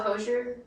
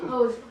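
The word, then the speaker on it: Hozier: doodling, and I don't know if you know Hosier. Is that how you say it? Hosier? I think Hosier is what I've heard, but The more pretentiously you say it, the better. There you go. Hosier.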